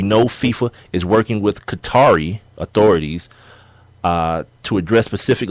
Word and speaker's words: Qatar: uh working conditions in Qatar or Cutter it's a so many different damn pronunciations to the damn it's two way yeah yeah cutter or Qatar those the two most popular it said this is